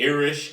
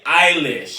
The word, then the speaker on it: Eilish: do you keep going i'ma need you to pronounce his girl's name right one time Billy I wish this man said Billy Irish Eilish okay so people becoming a really eyelash I'll